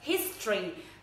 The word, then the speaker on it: history: Và từ này rất nhiều người đọc sai, các bạn toàn đọc là history. Không đọc như thế này ạ, mà mình đọc là history. Thực tế á, trong tiếng Anh ạ, cái từ này khi các bạn nói ấy, thì cái âm thứ hai này này, nó bị nhược đi. Mình không đọc từ này là tory, mà mình đọc là tory. Nó rất là nhanh ạ, nó briefly đi qua rất là nhanh.